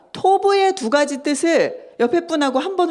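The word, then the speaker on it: טוב: 네, 저 그림 맨 위에 있는 파란색 그림인데 같이 읽어볼 텐데 그 옆에 발음이 써 있어요. 좀 따라서 읽어주세요. 토브 보이시죠?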